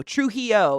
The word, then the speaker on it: Trujillo: Trujillo. Is that how you say it? Trujillo. I said it right like the third time.